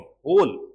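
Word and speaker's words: whole: होल वर्ल्ड about him होल होल है उच्चारण का डब्लू साइलेंट है डब्लू साइलेंट की ट द होल अब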